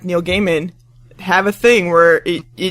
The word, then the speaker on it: Neil Gaiman: are you are you serious awesome guys like Neil Gaiman have a thing where it it has a button and it says he says my name is Neil Gaiman pronounced Neil Gaiman and it's him saying it that's